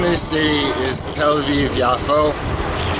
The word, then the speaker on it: Yafo: the city is tviv yafo yafo is the Hebrew pronunciation of the way that the name is written and it's popular in many languages particularly Hebrew and Arabic so it's could be also Jaffa Jaffa yaso and anyway